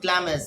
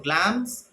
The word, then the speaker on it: Glamis: Thee Thane of clams this is not Glamis the pronunciation is glance pain of glams all hell Macbeth held